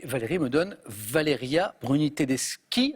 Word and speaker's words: Tedeschi: Et Valérie me donne Valeria Bruni Tedeschi. Alors c'est K, mais ça s'écrit CH.